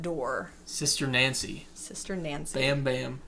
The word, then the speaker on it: Bam Bam: sister nancy sister nancy bam bam or bomb bomb as she pronounced it bomb bomb okay bam bam though but yeah that's reggae